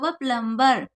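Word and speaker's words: plumber: है ज पलेटी plug प्लंबर एम और बी होता है तो बी साइलेंट है तोय क्या प्लंबर प्लाई बुड प्लम प्लस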